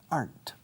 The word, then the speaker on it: aren't: Aren't you the person who was here? Aren't you? Aren't you? Aren't you the person? ¿No eres tú la persona? Aren't you? Fijaos cómo lo digo. Una sola sílaba. Aren't.